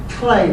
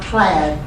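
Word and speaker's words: clade: should be cardi but it really is Clay not clad clayr and if you go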